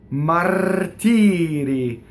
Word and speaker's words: martiri: And then the single R is in between two E's, right? So martiri. So one rolled, one flipped.